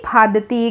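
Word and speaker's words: फाँदती: और आखिरी वाला है उनके साथ मैं कूदती फादती घर आती हूँ। इस शब्द में ये जो फ है, फ के ऊपर चंद्र बिंदु आता है जिससे कि उच्चारण बनता है फांदती।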